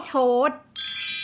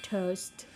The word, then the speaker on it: toast: after oneself something yeah pamper yourself to honey toad toad I love toast oh toast yes toast toast toast to SP